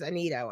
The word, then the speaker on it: Annitto: Tonight we're starting our season off great with a demonologist, author, paranormal investigator, James Anito. and I'm hoping I pronounce that right.